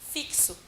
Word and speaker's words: fixo: E aí ela aprende que isso daqui, na verdade, se pronuncia assim, né? Vou fazer transcrição fonética aqui. Fixo, certo?